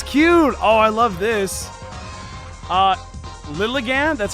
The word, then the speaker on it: Lilligant: Lilligant, that's how you pronounce it, is one of the prettiest Pokemon ever.